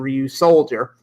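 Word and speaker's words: Ryusoulger: No, it's just we've also got some news about Ryu Soldier, and yes, that is the official pronunciation, Ryu Soldier.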